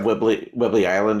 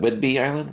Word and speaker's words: Whidbey Island: Is it Whidbey Island? Whidbey? correct, right, Whidbey Island.